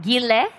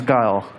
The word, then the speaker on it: Guile: Gile? Yeah, you are. It's Guile. Guile.